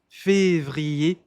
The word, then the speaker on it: Février: Février. Février. Esse R não se pronuncia.